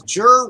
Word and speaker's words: Jer: Because it says Jer rhymes with fur right in the thing. You couldn't be bothered to read the entire. Jer rhymes with fair.